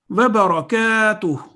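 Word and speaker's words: وبركاته: So that inverse dhamma at the end is not pronounced. Wa barakatuh. And kaf has an alif of elongation, so the sound would be 2 seconds.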